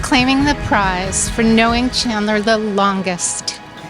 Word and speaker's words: Chandler: His name was Chandler. I couldn't even pronounce it. I kept saying chandelier.